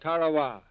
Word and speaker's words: Tarawa: in the mid Pacific called Tarawa that pronunciation incidentally is from the National Geographic society that Island will never